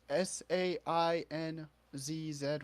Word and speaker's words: Sainz: It's Sainzz, whatever you want to call it. What? The driver for F1. How do you pronounce his last name?